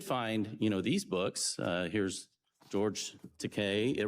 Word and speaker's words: Takei: Here's George Takei. It rhymes with Takei.